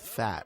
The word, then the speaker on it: Phat: And located a mutant called Fat. I said, that's completely ridiculous. PHAT, as in Fat Farm.